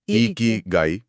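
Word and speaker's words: 生きがい: तो सबसे पहले यही सवाल कि ये इ की गाई सही उच्चारण है। ई की गाई है ना?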